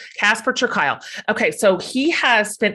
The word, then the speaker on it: Casper ter Kuile: But as he reminded me at the top of the show, rhymes with smile. Casper ter Kuile.